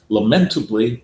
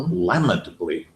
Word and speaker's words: lamentably: with this word because it's pronounced lamentably or lamentably, depending on which country you're in. And in England, it's regarded as terribly wrong to emphasize any but the first syllable.